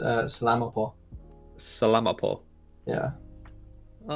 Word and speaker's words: salamat po: It's salamat po.